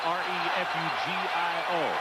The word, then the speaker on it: Refugio: 5'9", 180 pounds, from Refugio it is pronounced. It is spelled R-E-F-U-G-I-O, Refugio, Texas.